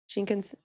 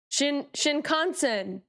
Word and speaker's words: Shinkansen: Shinkansen. Shinkansen.